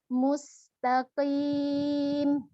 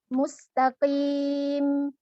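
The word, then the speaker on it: المستقيم: pengucap hanya adalah ihdinashirotolmustakim mustaqim mata demi suhunya dijaga panjangnya kemudian berikan sifat tawas juga pada uh senyum mustaqim jadi jangan langsung diputus ya jangan mustaqim yang langsung cecak gitu dan ayat yang terakhir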